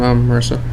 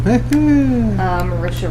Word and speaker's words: Marisha: No, just Matt Mercer and Marissa. Oh, okay. Well, just two of them. Melissa. Oh, well, I just totally butchered her name. Marisha Ray.